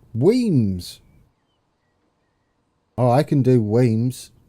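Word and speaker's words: Wemyss: that's a bit of scenery there's a lightning pronounced Weems oh I can do Wings yeah there we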